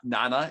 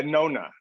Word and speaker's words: Nona: Well, and I know even the name you prayed over, and I believe your wife Karen, her name Nana. Am I pronouncing that right? Yeah, Nona.